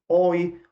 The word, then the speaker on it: Euwe: Falarei, direi aqui, ou pronunciarei como Euwe, como os brasileiros costumam pronunciar seu nome. Há muita discussão com relação ao seu nome, se é Max Euwe, ou se é Max Euwe, ou se é Max Euwe.